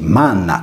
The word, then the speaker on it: magna: Per questo magna dovrebbe leggersi manna, come in sardo.